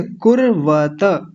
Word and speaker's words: कुर्वत: कुर्वत ऐसा बोलेंगे। कु के बाद यह जो र आ रहा है ना यह पहले ही बोल जाता है। कुर कुर कुरवत कुरवत ऐसा बोलेंगे।